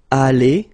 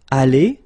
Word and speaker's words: allé: Here you've got aller, aller, even if you've got the final E, you don't pronounce it. Aller, even if you've got the S. Aller, even if you've got this ES, okay?